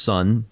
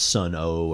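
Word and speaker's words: Sunn O))): It's pronounced sun. I've I've heard Stephen Ali kind of talk about it in some interviews. It's not Sun O or or whatever.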